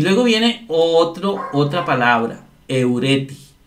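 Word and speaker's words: εὑρέθη: Y aquí está eureti. Eureti con acento en la penúltima.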